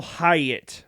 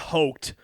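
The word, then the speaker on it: Hoecht: sign Michael height Michael hayatt I believe is how it's pronounced if I remember correctly Michael hayatt it's not hoked but they signed him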